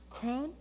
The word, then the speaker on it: Cron: Cron?